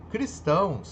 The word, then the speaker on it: Cristão: funciona como adjetivo Ok Cristão é uma palavra dissílaba e oxítona e aí sim Cris estamos tá ela é de sílaba duas sílabas Tá mas a sílaba forte dela está onde Na parte oxítona Ok então verdadeiro a